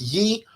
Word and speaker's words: Yi: We use a a brand called Yi. So Yankee igloo and it's pronounced Ye home camera.